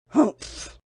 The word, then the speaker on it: humph: "Humph!" said the sand fairy. If you read this story aloud, please pronounce humph exactly as it's spelt, for that is how he said it.